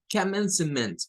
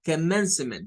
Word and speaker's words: commencement: Commencement. Parece una palabra complicada. Commencement. Lleva un schwa ahí entre medio.